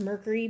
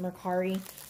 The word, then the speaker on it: Mercari: I mean, I think it's supposed to be pronounced Mercury, but everybody pronounces it Mercari.